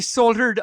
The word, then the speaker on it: solder: and since since you soldered on you have a lot of like metal that's now put together because right the l is silent in solder like the p and